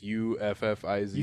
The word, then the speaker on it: Uffizi: I don't know how to pronounce it. It's Uffizi. Uffizi.